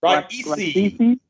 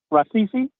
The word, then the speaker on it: Raisi: How do I pronounce his last name? Raisi. Raisi.